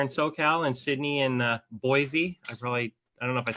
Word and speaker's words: Boise: Kyle out here in SoCal and Sydney in Boise. I don't know if I said it right or not. Nosy. Boise. So, Say it, Sydney. Boise.